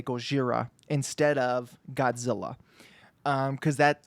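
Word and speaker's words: ゴジラ: a white American man, you can't mispronounce Gojira. Even if you want to pronounce it like a white guy, you say it like I'm saying it, right? Gojira. You don't say Godzilla. Like the two don't sound the same.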